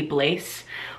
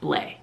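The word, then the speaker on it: Blais: YouTube you guys should go and watch hailey bleh I sincerely apologize for in the past calling her hailey blase when I would talk about her music or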